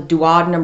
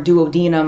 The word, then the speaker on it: duodenum: small intestine called the duodenum or duodenum, I've heard it pronounced both ways.